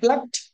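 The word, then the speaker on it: plucked: of any regular verb, the ed or ied or d must be pronounced like ta. ఇకపోతే ఈ important word ఏంటంటే ప్లక్ అండి. ప్లక్ ప్లక్ ప్లక్ ప్లక్ట్ ప్లక్ట్.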